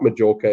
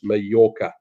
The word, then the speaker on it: Mallorca: Where in the world is the island of Mallorca? And I'm pronouncing it correctly because I'm reasonably good at my Spanish. Otherwise, a lot of people will call it Majorca, but it's not Majorca, it's Mallorca.